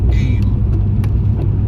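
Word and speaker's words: Eyam: is the famous plague village of Eam, E-Y-A-M, pronounced Eam.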